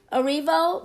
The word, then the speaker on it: Erivo: How do you pronounce that? Erivo.